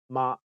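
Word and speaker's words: 媽: totally bizarre to you in Cantonese pitch accent is super important that's right a word's meaning could be different depending on the tone that's pronounced you definitely don't want to mix up mother and horse for instance yes that will be a funny mistake in Cantonese mother is ma and horse is ma imagine someone introducing his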